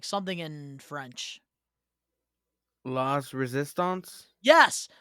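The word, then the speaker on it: La Résistance: I can't pronounce it whatsoever. It's like something in French. Las Resistance? Yes, Las Resistance.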